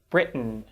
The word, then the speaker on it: Britain: let's discuss some examples we don't say eaten britain certain manhattan or fountain but we tend to say eaton certain britain manhattan fountain do you notice how